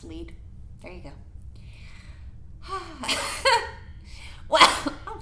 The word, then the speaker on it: Lied: ulsan lead and yes when I read it I thought it said line you can't find me a spell led but it's said pronounced lead there you go what